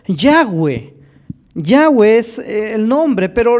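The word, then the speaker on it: Yahweh: el nombre de dios algunos le han llamado llave en lo personal yo creo que el nombre es ya ve ya ves el nombre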